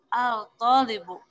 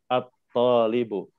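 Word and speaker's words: الطالب: Ya, jadi si lamnya itu, Bu, dianggap tidak ada ya. Jadi langsung loncat ke to-nya. At-talibu. Jadi jangan membaca al-talibu, bukan. Tapi membacanya lamnya itu dianggap tidak ada. Jadi at-talibu.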